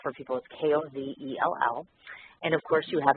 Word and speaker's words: Kozell: How do you pronounce that? Kozell. It's a hard O sound. Kozell.